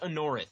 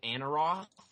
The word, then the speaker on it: Anorith: oh there's will anyways it's pronounced a North it's written in North Corey has always pronounced it Anna Ross and I have never